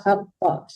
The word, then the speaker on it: حق: War bacanya wama qadarullah haqqa. Hanya ada dua ya. Pertama ha besar, yang kedua ha kecil. Ya, harus dibedakan membacanya.